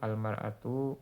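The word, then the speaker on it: المرأة: Fayuqalu maka dikatakan ar-rajulu al-mar'atu as-saubu. Jadi imra'atun kalau dikasih alif lam hamzah wasalnya hilang ya. Bacanya jadi al-mar'atu, mimnya di fathah. Tadinya kan disukun.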